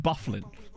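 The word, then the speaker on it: Byfuglien: it Dustin Buffalo where it's spelled like um it's like that but it's pronounced bufflin yeah that's one of my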